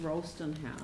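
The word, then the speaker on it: Rolleston House: any time frame around i think you'll find it's pronounced rollston house ralston just saying i know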